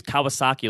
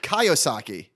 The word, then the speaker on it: Kiyosaki: robert kaisaki yes and you totally spelled his name wrong too you use kawasaki like oh my god i completely butchered that i apologize i said guy kawasaki it's robert kiyosaki yeah you use kawasaki